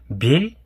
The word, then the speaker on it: бел: Бель пишется б, е, л, но как будто бы читается как бель. Л с мягким знаком.